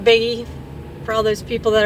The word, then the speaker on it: Bigge: I said it right, Bigge.